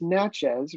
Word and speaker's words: Natchez: Mississippi this uh summer it's Natchez rhymes with matches uh beautiful little town